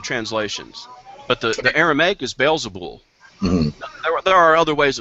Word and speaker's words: Beelzebul: Well, it depends on how it's spelled in the translations. But the Aramaic is Beelzebul.